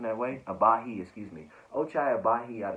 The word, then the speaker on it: Agbaji: Then you have at 17 Ochai Agbaji, if you will, if I'm pronouncing that way. Abahi, excuse me.